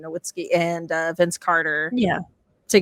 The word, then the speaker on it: Nowitzki: Like I'm really looking forward to seeing like Blake Griffin and like Dirk Nowitzki sorry, I mispronounced his name, Nowitzki, and Vince Carter.